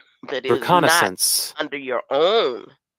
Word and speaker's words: reconnaissance: Sans S a n c okay correct the pronunciation but hold up she say it like this reconnaissance reconnaissance that is reconnaissance under your own it's under military observation of